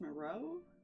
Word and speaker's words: Moreau: Pronounced Moreau? That would be correct.